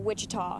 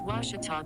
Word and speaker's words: Ouachita: for washida baptist university back in texas everybody pronounces it wichita but really it's ouachita washington washington how would you pronounce it it's washita baptist university get it right it's watertall people it's